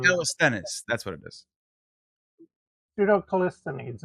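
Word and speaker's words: Pseudo-Callisthenes: Pseudo Callisthenes is how I pronounce it.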